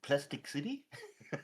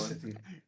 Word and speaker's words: Plasticity: So did you is this from Plast pli plastic city. Is that what it call? Plasticity. Plastic city. It's not from plastic city. Sorry, my pronunciation.